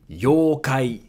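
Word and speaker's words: ようかい: Yuki, yokai, yokai. So here again, yo-u makes it a long yo.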